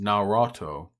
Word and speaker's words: Naruto: It's pronounced Naruto. That can't be right. There is only one O in the middle there.